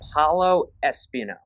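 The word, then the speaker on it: Paolo Espino: Paulo Espino. That's how the Nationals broadcaster pronounce his name, so I'm going to go with that.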